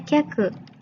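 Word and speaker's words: 客: Ya, nah ini bacanya kyaku.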